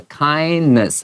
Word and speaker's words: kindness: kindness, N-E-S-S。我们前面学过的是 illness，在这边的话 kindness，好，这个 N-E-S-S 的这个 E 都是不发这个音，它是元音 schwa 的这个声音，and courage。A-G-E 结尾的这种名词字根 and the importance of helping V-I-N-G 动名词 helping 好，在这里面这句话里面就有好几个名词的形态，我们就不妨把它分类放在你旁边这个 margin 这个地方把它写好。